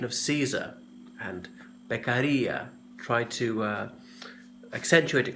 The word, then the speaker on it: Beccaria: correct pronunciation of his name it's the Italian pronunciation of Caesar and Bek Aria tried to accentuate it correctly doesn't really matter I often hear people saying Caesar II or their carrier things like that so he was from Italy